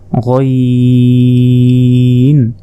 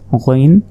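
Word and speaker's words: غين: এক নক্তা এটা হচ্ছে গাইন হলকের শেষ ভাগ হতে গাইন উচ্চারণ হয় এরপর উপরে এক নক্তা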